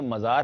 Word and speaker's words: مزار: بھی جواب دیں گے۔ پہلے تو یہ بتائیں یہ مزار ہے یا میزار ہے؟ میم پر زبر ہے، ٹھیک ہے، مزار مزار ہے، ٹھیک ہے، تو یہ